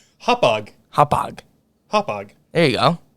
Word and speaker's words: Hauppauge: This is the guy I'm referencing is a buddy of mine that lives on Long Island. Okay, Massapequa. There you go.